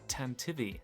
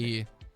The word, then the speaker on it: Tantive: Yeah, apparently you pronounce it Tantivy, like this archaic word for galloping. Tantivy.